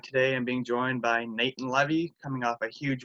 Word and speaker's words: Natan: It's pronounced Natan.